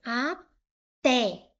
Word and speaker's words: até: Se eu separar em sílabas, eu tenho até. O té é a sílaba mais forte, é a sílaba tônica.